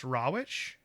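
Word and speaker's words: Rawitsch: And one of those bright-eyed young staff members was a man named Don, I think it's pronounced Rawich. Does that sound right to you? Right, Rawich? yeah. Rawich? Yeah. Rawich? So it's Rawich?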